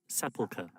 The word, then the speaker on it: sepulcher: mostly easy if it wasn't for the word Sepulcher I don't even know if I pronounced that right hold on hold poker sepulcha sepulcha polka ah so I said it right